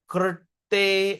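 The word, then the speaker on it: कृते: Krte. R with a dot. Okay, this is the only word that you can find in Sanskrit. You pronounce rrr, rrr, okay.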